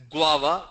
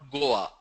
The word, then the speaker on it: guava: It's pronounced as guava, not Goa.